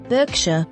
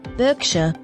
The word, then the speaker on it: Berkshire: police station Corner Sergeant note the pronunciation Sergeant you have the same vowel sound in Clark Clark Derby Derby Berkshire Berkshire pretend and pretense role noun